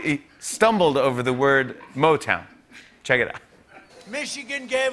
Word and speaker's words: Motown: Later on, Trump said, Motang, of course, began in the great city of Detroit. Right after that, Yosemite National Park was like, damn, you too? Yeah, Trump mispronounced Motown as Motang.